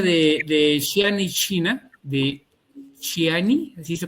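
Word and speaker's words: Xi'an: Bueno, pues básicamente fue en el año de 1974, cuando en la pronuncia de Xiani, China, de Xiani, así se pronuncia, de la provincia de Xiani, dos hermanos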